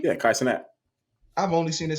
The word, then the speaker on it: Kai Cenat: Yeah, Kai Cenat.